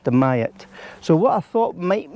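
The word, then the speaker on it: Dumyat: mayat spelled d-u-m-y-a-t so some people might say dumb yat but it's pronounced the mayat so what I thought might make quite a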